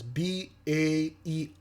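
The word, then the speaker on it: Baer: B-A-E-R. There we go. Okay. The name Ba'er, pronounced like an animal bear, is primarily of German origin, derived from the word bar, which translates directly to bear.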